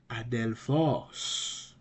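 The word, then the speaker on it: ἀδελφός: Where is the accent? The accent is on the ultima. The breathing mark is on alpha. And it's a smooth breathing mark, so there will be no H, vocal H sound. It's gonna be Adelphos.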